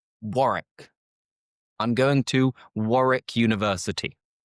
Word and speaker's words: Warwick: And the third is what you might be thinking. Warwick. Mhm. It is actually pronounced Warrick. Warrick.